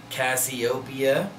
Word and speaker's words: Cassiopeia: three favorite songs were seen stared marshmallow and Cassiopeia that's how you say it and each Trek